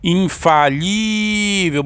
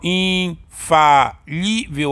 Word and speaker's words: infalível: Infalível. Bora separar, ó. Infalível. Olha só, a sílaba mais forte aqui, o li, então ela é paroxítona.